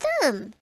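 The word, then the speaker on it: Stumm: grin why it's colonel's tum he cried he pronounced it like the first syllable and stomach very pleased to meet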